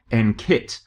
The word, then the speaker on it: NQIT: calling it NQIT, because we've been advised to pronounce the Q with a K sound, so that it comes out as NKIT, because kit is very empowering and exciting and sounds a bit sporty, whereas quit sounds terrible.